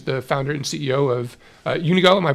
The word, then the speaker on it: Unigo: So it's an exciting time, and we are pleased to have Jordan Goldman, who is the founder and CEO of Unigo. Am I pronouncing that correctly?